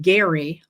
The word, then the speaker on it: Gerry: And the concept, the idea of gerrymandering comes from Elbridge Gerry, spelled the same, pronounced differently. I don't know why.